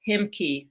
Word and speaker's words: Ahimki: Mark Armstrong, naturopathic doctor, he is the founder of the Ahimki, pronounced Himki, Center of Wholeness, which he created in 1995.